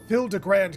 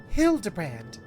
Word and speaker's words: Hildibrand: I assume this parting ways I've searched every alley and dive bar in Evere for signs of this Hildrand character. It's pronounced Hild Debrand.